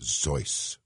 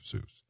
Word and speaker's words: Seuss: Craig Ferguson calls Dr zo which is actually the correct pronunciation of the name but it'll be Dr Seuss I don't remember the